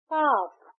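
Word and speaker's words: calf: हाफ एच ए F similarly काफ सी ए एल एफ काफ। बट यहां L silent है। हम कालक नहीं कहते। हम कहते हैं काफ।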